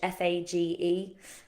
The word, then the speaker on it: Fage: And it's an alternative to Faye, which is spelt Fage, Fage. I pronounce it like Fage for ages. It's a bit like the quinoa quinoa situation, isn't it? I called it quinoa for so long.